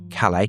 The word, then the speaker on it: Calais: He described the reaction of some people in Britain to young refugees arriving in Calais, they don't pronounce the S, do they, as hideously racist and